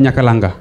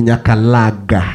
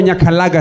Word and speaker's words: Nyakalaga: The word Nyakalanga. Ni Nyakalaga. Oh, Nyakalaga si Nyaga. Nyakalaga.